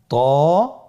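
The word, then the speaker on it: ط: তো হরফটি মোটা হরফ, এটা উচ্চারণের সময় অবশ্যই মোটা করতে হবে এবং উচ্চারণ করার সময় 1 আলিফ টেনে পড়তে হবে।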